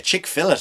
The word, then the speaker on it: Chick-fil-A: recommend from the old Chick-fil-A chick fillet actually if you want to pronounce it properly but it's chick fillet um when you go to Ireland that's what we call it it's like a fillet fillet a fish fillet of chicken not a